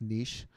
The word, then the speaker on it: niche: As Chad mentioned, it is it's pronounced niche, so it's just gonna be fun to play with.